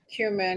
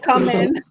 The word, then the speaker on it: cumin: Which spice does Teresa not know how to Cumin. pronounce? Cumin, yeah. She's like, come in. Come in.